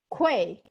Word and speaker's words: Kuei: name i don't want to mess it up quay i thought i said it right how was